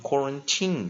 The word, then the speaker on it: quarantine: T那 nucleus 母合音在 I 那注意这个它这个很特别这个是这个 tin 的这个 e 是不发音 quarantine 它当没有 ed 的时候 quarantine 的时候e 是不发音 I 要念什么弱母音弱长母音它念长母音，但是破音在什么破音在